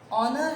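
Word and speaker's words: honour: अब यहाँ पे से अलिफ का साउंड नहीं दिया, यहाँ पर एज साइलेंट हो गया, तो ऑनर में यहाँ पर अलिफ का साउंड आ रहा है जो ओ दे रहा है, ओ ऑलरेडी वॉवल है।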